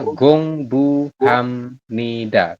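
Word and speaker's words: 공부합니다: dari kiri ke kanan Nah ini kan ada B ya B di akhir ketemu dengan n dibaca HAM mi mi ya seperti ini ya Jadi dibacanya adalah Gong Bu Hamida seperti itu kemudian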